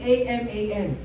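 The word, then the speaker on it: Haman: ay mae-introduce tayo sa isang tao na nagngangalang Aman. Ang spelling niya is H A M A N. But to pronounce it is Aman.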